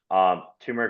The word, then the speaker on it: turmeric: Turmeric or turmeric, whichever way you'd like to pronounce it, is fantastic for inflammation.